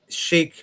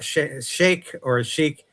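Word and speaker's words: sheikh: But I wrote 2 columns about this issue here, and she talks about a sheik or sheik. Pronunciation varies on that one.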